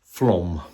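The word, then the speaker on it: Flåm: Well, the pinnacle, the highlight of the trip was our trip to Flom. It's spelled Flan, but it's pronounced Flom.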